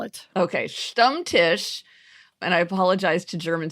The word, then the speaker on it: Stammtisch: You also might want to spell it. Okay, Stammtisch, and I apologize to German speakers if I am really getting that wrong.